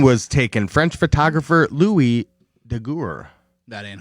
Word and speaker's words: Daguerre: French photographer Louis Daguerre. That ain't how you say it, but good. That was. It is. I even have it. That ain't French. Daguerre. No. Daguerre.